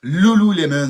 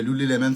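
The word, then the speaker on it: Lululemon: Ben oui, ben en fait beaucoup de gens disent Loulou Lemon mais ça s'écrit lu lemon comme un citron. Un lemon. OK, on va parler de Lou Lemon cette semaine.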